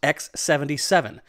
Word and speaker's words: X-7Seven: for us to test and yes it is pronounced x77 and i'm told the team at x77 are fans of extreme sports so they wanted